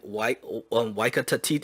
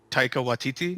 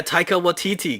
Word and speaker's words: Taika Waititi: Like if they take a deduction on it, they have to make this movie, and it's on their list, and Waika Tati, I can't say his name.